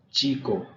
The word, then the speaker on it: chico: C, that is CH, it is pronounced as ch, as in chapter in English. Ch. For example, por ejemplo, chico, boy, coche, car.